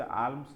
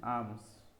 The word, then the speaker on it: alms: যেমন headphone, sneakers, premises, আর্মস, ঠিক আছে, এটা উচ্চারণটা হচ্ছে আর্মস নয়, আর্মস।